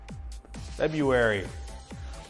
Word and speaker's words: February: I always think people are weird when they try to pronounce the R in February. February.